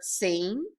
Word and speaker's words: seen: We have an E in the middle and an E at the end. That silent E is helping the E say its name to make the word seen.